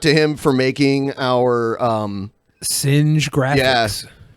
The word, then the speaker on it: Synje: Shout out to him for making our Singe graphics. Yeah, Singe graphics. Yeah, that's how it's said.